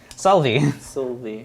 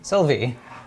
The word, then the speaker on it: Sylvie: one we or so why can't i pronounce her name salvi sylvie of course we have the a